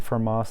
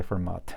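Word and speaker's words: Fermat: mathematician is pretty famous pronouns for ma you don't pronounce t because it's a french you can just say format it's fine uh f x is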